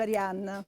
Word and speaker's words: Arianne: perché Arianna, no, lei però Cioè, il suo nome d'arte è Arianna, Arianne scritte Arianne e si pronuncia Arianna.